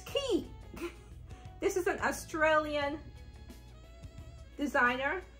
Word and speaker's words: Quay: q-u-a-y I've been pronouncing Quay it's not Quay it's key this is an Australian